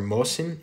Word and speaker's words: Mosin: isn't really feasible as mosin or mohsen is a russian name and nagant or nagong